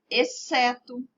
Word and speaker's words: exceto: Exceto, exceção e excelente. Perceberam? Essas palavras, o C é pronunciado mais forte do que o X, né?